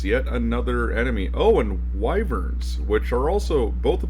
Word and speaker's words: wyvern: is Neutralize Poison, because Wyverns do have the ability to do it. Yeah, I guess I've said it wrong my whole life. Apparently it's Wyvern and not Wyvern, as I've always said it, so oops.